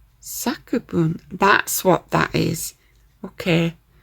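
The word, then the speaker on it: 作文: Sakubun, that's what that is.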